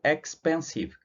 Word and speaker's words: expensive: Pode parecer que para nós é 4, mas na verdade são só 3, porque eu não tenho o som do E aqui, né? Eu tenho o som do X, do pen e do sieve. Esse E aqui não é pronunciado, eu falei no slide anterior, né? A contagem de sílabas em inglês é dada pelo som que a palavra tem, não pela grafia.